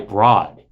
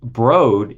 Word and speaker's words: Broad: voice actor referred to Eli bro as Eli Broad like five or six times in the book and Eli bro is a very famous billionaire philanthropist now his